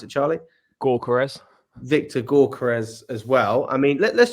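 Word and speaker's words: Gyökeres: How do you pronounce it, Charlie? Gyokeres.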